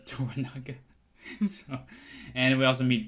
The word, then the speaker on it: Toranaga: uh funny Lord toranaga I butchered his name in the last episode I thought it was Tango but it was toranaga so and we also